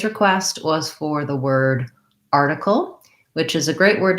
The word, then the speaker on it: article: syllable stress which means the r is long and has a clear vowel and the tickle is short and reduced and has reduced vowels basically the syllable stress is an important part of pronunciation for any word i don't want to be too even across the syllables i want to make sure that i have that long and short pattern article article you might